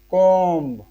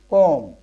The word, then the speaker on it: comb: See, we usually say comb. It's wrong. The correct pronunciation is comb.